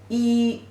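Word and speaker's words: 雨: this character means rain the pronunciation is e the third tone see these are the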